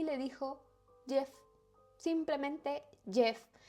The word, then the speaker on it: Gef: le dijo Jeff, simplemente Jeff, que realmente es que lo escriben G-E-F, pero bueno, se pronuncia como Jeff.